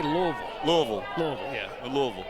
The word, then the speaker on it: Louisville: I say Louisville.